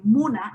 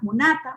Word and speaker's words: múna: What we have in Kokama is primary stress is not lexical assigned, but it depends on it goes in the penultimate syllable. So like a word like Muna is still, if you